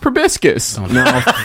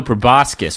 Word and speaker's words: proboscis: like well in this fantasy universe maybe it's pronounced probiscus no friend you're not over bisque is my sweet friend no proboscis with an proboscis is a flower this the